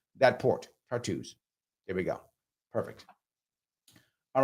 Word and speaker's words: Tartus: Thomas says it's pronounced Tartus. Oh, thank you. I did not know how it was pronounced. Tartus. There we go. That's how you pronounce that port. Tartus.